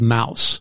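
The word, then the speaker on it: Maus: its decision to remove a book called Mouse. Actually, it's spelled M-A-U-S.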